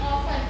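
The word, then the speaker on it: often: फिर है अक्सर, अक्सर मीन्स ऑफन, है ना? टी साइलेंट होता है इसमें, ऑफन क्या बोलेंगे?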